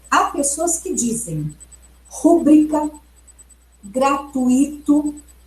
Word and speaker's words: gratuito: Então, se vocês observarem na gramática culta, na norma culta, como deve ser a pronúncia? A pronúncia considerada correta é rubrica, gratuito e Nobel.